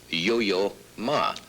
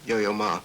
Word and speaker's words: Yo-Yo Ma: both so and uh i noticed when you pronounced my name first it sounded yo-yo ma it's it's it's a terrible name to live with and it's you know but i've you put it together like one word or yo yo ma